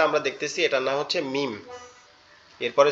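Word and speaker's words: ميم: এরপরে যে অক্ষরটা আমরা দেখতেছি এটার নাম হচ্ছে মিম। এরপরে যে অক্ষরটা আমরা দেখতেছি এটার নাম হচ্ছে কি? মিম। মিম। মিম। এটা কেমনে উচ্চারণ হবে?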